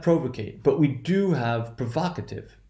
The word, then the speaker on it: provocative: So what happens in this case is, notice there is no shift in the position of accent. Provoke, provocative. That means it's that second syllable that will be stressed.